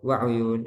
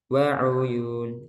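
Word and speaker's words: وَعُيُون: Nah, itu wa'uyun itu masih kurang satu harokat. Yang benar wa'uyun gitu. Ada contoh kan? Innal muttaqina fi zilalin wa uyun. Jadi sempurna wa uyun. Kalau bacanya wa uyun itu ikhtilas, mengurangi harokat dalam satu harokat.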